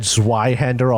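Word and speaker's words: Zweihänder: just released, I said Zweihander a whole lot. I am fairly confident that's not how it's pronounced. Well, it probably is actually because Really? Zwei is 2 in German. Well, Zweihander it is.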